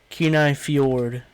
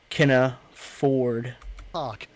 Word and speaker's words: Kenai Fjord: Kenai Fjord. Not Kenna Ford. Kenai Fords National Kenai Park was Ford. created in 1980 to... Kenai Fjord.